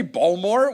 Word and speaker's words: Baltimore: Don't pronounce the T in Baltimore.